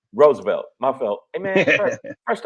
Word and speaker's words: Roosevelt: Roosevelt, my fault. Hey man, first off, Mr. Correct me. The second O is silent.